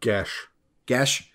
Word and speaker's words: geis: How do you say that word? Gesh. Adam? Gesh.